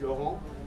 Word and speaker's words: Laurent: So my name is Laurent. Call me. The French pronunciation is Laurent. The international one is in Laurent.